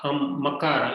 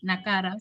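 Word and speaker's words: मकार: Raghuvamshaha, Makara, like Makara. Makara only, right? Because I was hearing it as Nakara. So I was saying as Nakara.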